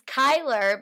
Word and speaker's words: KiLR: it that's exciting and this is Kyler but it's spelled k i LR and this is Wade